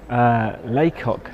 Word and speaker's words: Lacock: Abbey and the museum is this this is Leacock yes that's the pronunciation how is boto pouncer Leacock village and